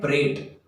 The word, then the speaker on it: prate: इसका प्रोनाउंसिएशन है प्रेट।